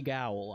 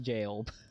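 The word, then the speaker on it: Gaol: The Bonnie Gowl. I know it's pronounced jail.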